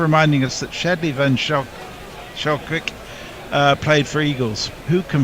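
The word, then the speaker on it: Schalkwyk: Our local pronunciation expert, Brian Barris, says it's Van Skalkvik.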